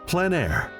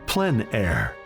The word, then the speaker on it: plein air: Called plein air, the French coined the term, which means open air or outdoors. The French pronounce it plein air.